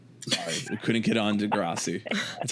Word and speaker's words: Degrassi: Well, as non-Canadians, you know, sorry, we couldn't get on Degrassi. That's how you pronounce it.